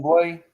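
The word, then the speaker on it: Bublé: I think it's the correct pronunciation. Buble. Michael Buble.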